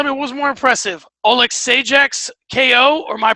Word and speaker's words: Alexeychuk: And Mikhail Alexeychuk is how you say it.